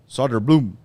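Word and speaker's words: Söderblom: Soderblom.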